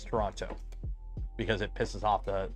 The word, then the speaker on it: Toronto: and it's a lot of bad drivers it's pronounced toron no it's Toronto because it pisses off the the tonans torontonians